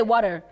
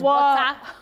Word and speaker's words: water: Now, there is something called the medial tea. When you go to America, especially the northern parts of America, when letter T is in the middle of a word, it comes out as if it is letter R, the sound is R more than T.